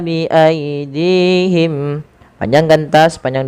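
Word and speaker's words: بأيديهم: Yaktubunal kitaba bi aidihim, panjangkan ta sepanjang 2 harakat karena dia ada alif kecil setelahnya. Bi aidihim, dihim, panjangkan dinya 2 harakat karena di sini ada ya kecil, teman-teman.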